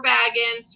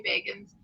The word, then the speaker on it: Bagans: And it's everybody's favorite, Zach Bagans or Baggins, depending on how you love to say his name. I say Bagans.